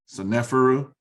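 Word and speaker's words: Sneferu: this is how you would say his name, Seneferu.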